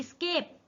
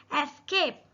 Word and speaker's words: escape: अगला ESCAPE, इसको लोग पढ़ते हैं स्केप, ये स्केप नहीं है, इसका करेक्ट प्रोनाउंसिएशन कैसे करना है हमें? एस्केप। इसको स्केप की जगह क्या पढ़ना है? ई की जगह हमें इसको पढ़ना है ए, एस्केप।